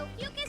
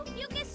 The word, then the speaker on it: Ophiuchus: Yep, the Ophiuchus Star Maiden. Is that how they're pronouncing it?